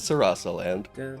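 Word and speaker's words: Sarasaland: It is Sarasa land, not to be confused with Sahosera.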